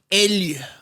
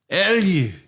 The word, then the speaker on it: elg: Elg. Elg. And how do you spell that?